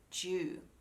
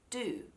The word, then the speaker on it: dew: is the word jew now in american english they would say do for these spellings d-u-e and d-e-w but in australian english we make a j sound because technically it should sound like do you do do you but we mush it together and we say jew alright the dewy grass